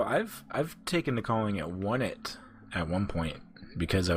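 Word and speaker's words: Onett: I believe it's on it. Because it's not one T, because there's two T's. Well, I've taken to calling it One It at one point.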